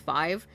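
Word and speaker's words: F5VE: And also not a K-pop group, but I think they're pronounced Five. UFO is like the song of all time. If y'all haven't listened to UFO by Five, it's F5 VE.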